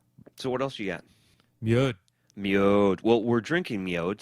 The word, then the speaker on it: mjød: Well, MJØD's MjØD, I believe, is the proper pronunciation of it in Danish.